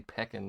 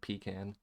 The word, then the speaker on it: pecan: numbers weird that's fine you guys say pecking instead of pecan um in French instead